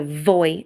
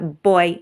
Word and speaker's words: voy: which is I go notice my pronunciation I'm not pronouncing as a voy sound it's a boy sound so boy I go